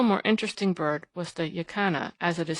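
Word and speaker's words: jacana: spot a still more interesting bird was the yakana as it is spelt in books but pronounced yasana by the Indians of Paraguay a quaint rail-like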